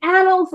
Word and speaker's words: annals: So because of the extraordinary possibilities of rapid growth inherent in this group, they may mark a new epoch in the annals of alcoholism.